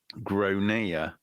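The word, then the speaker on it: Gráinne: Grainne. Yeah. I mean, that it says grain. Yeah. So anyway, the kid is called Gronia, not Grain.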